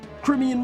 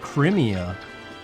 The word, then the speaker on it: Crimea: Crimean mercenaries. Wait, how do you say it? It's not Crimea. It's Crimea. That end cutscene in this game, he says Crimea. Which just sounds stupid.